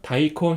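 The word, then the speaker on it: 大根: 것을 알 수가 있습니다 큰 대는 음독으로 다이라고 있고 그다음에 뿌리 그는 음독으로 콘이라고 읽어요 그래서음 다이콘이라고 있 있습니다 그래서 무 같은 경우는 다이콘 히츠 다사이 이런 식으로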